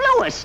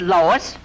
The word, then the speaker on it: Louis: the plant Lois Lois me name is leis not Lois J whiz everybody in toates me name wrong it's Louis l o u i s Lois uh uh Louise